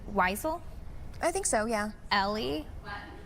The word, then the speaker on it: Wiesel: I believe you pronounce his last name Weisel? I think so. Yeah. Ellie? Wessel? We're gonna get the right pronunciation. Wiesel. That's what it is. Wiesel.